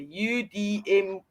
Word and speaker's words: Udemy: Udemy. Kind of pronounced like you to me.